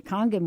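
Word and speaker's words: Kangen: change to the water I say kangan water because that's how you spell it I know you're supposed to say Conan water but I'm from New York uh either way you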